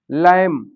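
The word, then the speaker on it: lamb: किसी भी वर्ड में अगर एम के तुरंत बाद बी लिखा है तो वहां पर हम बी का उच्चारण नहीं करते हैं।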